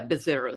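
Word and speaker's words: Búzios: from the city of is it pronounced bizos yeah bizos yes bizos there is an a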